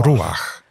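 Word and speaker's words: רוח: Użyte tutaj zostało hebrajskie słowo ruach. Powinno się wymawiać gardłowym dźwiękiem.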